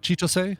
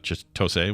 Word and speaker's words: Chitose: if I'm wrong, but you don't really put emphasis on any syllable. So Chitose. Chitose. As opposed to Chitose, it's like Chitose. Chitose. You put the same amount exactly.